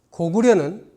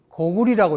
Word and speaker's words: 高句麗: 서너 가지 자료를 올린 데 비해서 고구려는 고구리라고 있고 고려는 고리라고 해야 되는 자료가 많이 나왔어요.